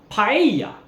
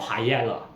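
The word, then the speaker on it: paella: Hanan in Spanish and if you have two letter L's in a word together it's actually pronounced as the letter Y so the famous dish in Spain is pronounced paa is not Pella it's paa so on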